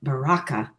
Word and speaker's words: Baraka: kind of I see Baraka. Yeah, me too. So, um I don't know where you got your pronunciation of that, but I think the the emphasis on the second syllable um opens the heart